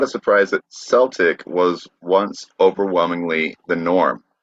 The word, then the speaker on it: Celtic: So Celtic, pronounced with the hard C, is an outlier in English phonology. Nearly every other English word beginning with CE has a soft C sound, like cedar, ceiling, cell, cement, scent, cereal, certain.